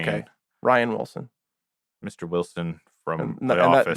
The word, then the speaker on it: Rainn Wilson: Is that Rainn Wilson? Yeah. I think you pronounce it Ryan. Ryan? But it's spelled like Rain. Okay. Ryan Wilson.